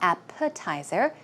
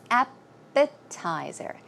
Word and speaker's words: appetizer: we have appetizer also it's not appetizer it's appetizer appetizer okay appetizer now I